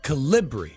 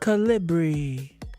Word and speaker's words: Calibri: That sounds like a little There's one B. Calibri. It's not. There's No, it's Calibri. She said Calibri. The B is like two B's, but it's only one B.